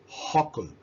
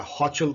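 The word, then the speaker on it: Hochul: एक और लेडी जो न्यूज में रही, वर्ल्ड न्यूज में, वो है कैथी हॉकल, या हॉचल कह सकते हैं, हॉकल, मेरी प्रोनाउंसिएशन बहुत रॉन्ग होती है, कैथी हॉचल।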